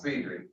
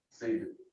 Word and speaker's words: Cedric: Oh, see, just like I'm told my first name is pronounced Cedric, but everybody says Cedric.